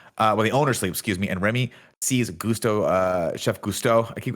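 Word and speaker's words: Gusteau: it goes and then i looked at the spelling and i was like oh no it's gusto we'll say it like that i'll try i'll try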